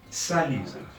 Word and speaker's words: salut: Salut. The T at the end is silent.